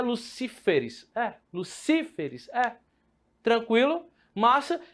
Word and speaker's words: Lucíferes: Se eu coloco essa palavra no plural, ela ficou Lúciferes. Então não pode, porque eu não posso ter a quarta sílaba acentuada. Então para onde é que vai o acento? Então o plural de Lúcifer é Lucíferes.